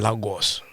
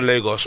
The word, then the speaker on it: Lagos: Made in Lagos.